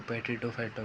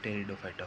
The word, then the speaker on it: Pteridophyta: कई लोग इसको पेट्रिडोफाइटा बोलते हैं। सही इसका उच्चारण टेरिडोफाइटा होता है।